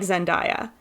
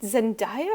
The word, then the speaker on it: Zendaya: And somebody in the comments was like, hey, you look just like Zendaya.